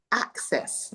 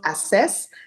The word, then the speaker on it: access: Now we all know so bachelors please take note coachi toastmastery please take note the pronunciation is access not assess.